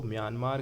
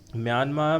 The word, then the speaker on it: म्यांमार: नाम है मयानामा है म्यांमार में आर का उच्चारण कर लेते हैं इसका पुराना नाम